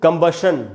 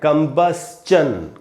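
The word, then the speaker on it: combustion: इसको भी दोस्तों कंबशन नहीं पढ़ना है, कंबस्चन, कंबस्चन। STION है तो आधा स और च और न होगा, कंबस्चन।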